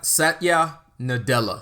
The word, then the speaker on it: Satya Nadella: gonna say it exactly how it's written satalia Satya Nadella Satya Nadella the CEO of Microsoft who was